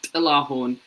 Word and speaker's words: Tilahun: Yeah, my name is Tilahan, but it's pronounced Tilahun, but it's hard for you because people have died trying to pronounce that name.